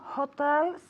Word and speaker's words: hotel: of hotels okay because the accent is on the second syllable Hotel okay and so